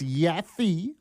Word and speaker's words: Yaffe: So I it's Yafi Y A FF E.